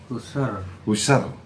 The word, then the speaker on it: Husserl: Bacanya Husserl apa Husserl? Husserl.